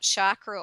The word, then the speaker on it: chakra: energy system and her chakras. And for those that are wondering what chakra or chakra, as some people would like to pronounce it, it simply is a Sanskrit word meaning wheel.